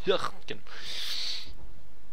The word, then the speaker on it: Hürtgen: I think it's Hirt. That's a German U, pronounced as Y more or less. I think it is like Hürtgen.